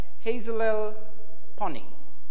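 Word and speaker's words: Hazelelponi: some time ago and it's pronounced as hazel el Connie now folks can pronounce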